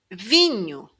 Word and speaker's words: vinho: This NHO combination sounds like the word new in English. New. Vinho. So you're actually saying V and new. Vinho.